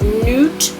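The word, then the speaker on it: Nut: financial decision this is an Egyptian representation of Newt and uut let's see if it's felt that way nope they spell it n UT here anyway Newt is the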